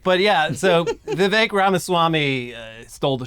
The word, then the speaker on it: Vivek: in notoriety was definitely Vivek is that how he says it I guess so it says it rhymes with cake uh the skinny guy